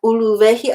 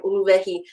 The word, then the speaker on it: uluwehi: If you can hear that uluwehi, I don't want that sharp glottal stop starting uluwehi. I'm blending it in.